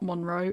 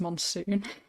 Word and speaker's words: Monsoon: Not Monroe, it's Monsoon. So very apologetic if that came up in anyone's backstory.